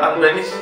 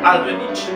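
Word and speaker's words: Albéniz: que iba a tocar, en lugar de decir Albeniz, dijo Albenich.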